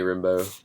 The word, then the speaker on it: Rimbaud: um the last of the hippies by penny rimbo uh but his name is spelled like rimba hard r-i-m-b-a-u-d penny rimbaud but